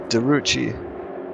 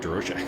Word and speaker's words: DeRoche: Richard DeRoche. It's DeRucci. DeRucci? Is that how it is? DeRucci? DeRucci. Okay. I'm guessing it's French. He's never corrected me on my pronunciation, so I've just been going with DeRoche.